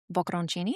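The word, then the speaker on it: bocconcini: Oh, we do use the bokenchini. How do you How do you say bokenchini? Oh, boaronchini.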